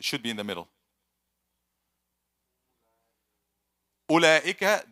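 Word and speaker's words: أولئك: Ulaika, there's waw, but it's silent.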